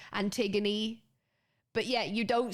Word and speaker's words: Antigone: words, you have this, if there's an E on the end, you actually say the E, Antigone.